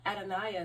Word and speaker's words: Adoniah: And then when it comes to the first families, how Adoniah, that's 4 fucking syllables right there, right?